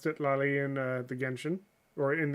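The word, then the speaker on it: Citlali: Kitlali? Huh. In the English, it's been pronounced Sitlali, I think. Pretty sure it's been pronounced Sitlali in the Genshin, or in the English.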